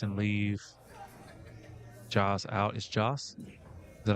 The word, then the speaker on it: Jas: Is Jas? Is that how you pronounce it?